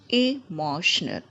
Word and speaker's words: emotional: letters stat stat the next one emotional emotional first notice that there is first e mo see stress is onal emotional repeat it after me